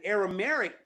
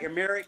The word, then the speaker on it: Aramaic: Am I saying it right? Aramaic, that language? Aramaic. Aramaic. Aramaic. Yes.